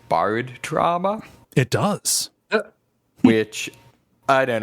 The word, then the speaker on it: Barotrauma: I also want to say it's spelled BARO trauma, not like you're borrowing somebody's trauma. Yes. No, as in barometric.